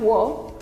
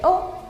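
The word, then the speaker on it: を: Y ahí hay una excepción, que es que se pronuncia como o, ¿sí? No es wo, está en la fila W, pero la pronunciamos como una o, como la vocal que ya aprendimos.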